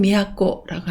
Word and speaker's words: 都: 그리고 형편이나 사정을 얘기할 때 쯔라고 읽어서 쯔고라고 합니다. 음독은 미야코라고 합니다.